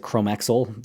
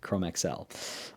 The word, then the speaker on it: Chromexcel: So, if someone calls pronounces it chromaxel, they're going to have a hard time with this video because we're not doing that. We're doing Chrome XL.